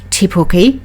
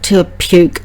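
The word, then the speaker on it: Te Puke: town's name means the hill and should be pronounced tepoki not the occasional to puke that some of the international people like to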